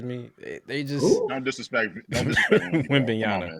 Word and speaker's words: Wembanyama: Victor Walalupa, he scares me. They just don't disrespect Wembanyama.